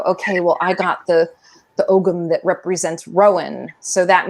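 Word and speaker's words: Ogham: some really cool um kits of the ogum some people call it om um sometimes my pronunciations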